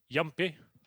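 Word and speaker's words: Jumpy: more residual Cash There's yumpy the coach I'm using the Swedish pronunciation there about to be correct and uh he will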